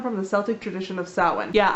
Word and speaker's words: Samhain: the Celtic tradition of salad yeah I know it looks like Samhain but just like every language it has words that are pronounced that white just because you that's